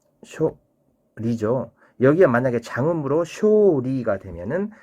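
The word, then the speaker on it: 処理: 자, 그리고 방출이라는 말, 처리는 쇼리하고 짧게 단음으로 내어 써야 됩니다. 쇼리죠.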